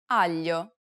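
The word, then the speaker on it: aglio: Learners to pronounce yeah It's A peculiar sound because it sounds somewhat like an English L but not exactly the problem arises when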